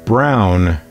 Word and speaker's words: Braun: It's pronounced Brown, they tell me.